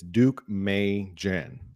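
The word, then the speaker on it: Deukmejian: I want to thank uh Amy for It's Duke May Jen. That's how you pronounce that governor's name.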